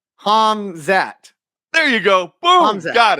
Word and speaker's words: Hamzat: say his name correctly you say it like a hazmat suit it's h hamzat put the M before the Z hamzat there you go boom